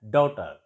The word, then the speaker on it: daughter: GH is silent and it is pronounced as daughter.